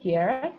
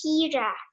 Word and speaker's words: Kiara: pronounced, and then it's actually pronounced Kira. Oh, Kira. All right.